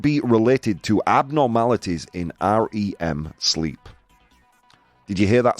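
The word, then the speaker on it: R.E.M.: related to abnormalities in REM sleep did you hear that spin r-e-m the band that sang Losing My Religion it's pronounced REM not REM guys you'll go see Arya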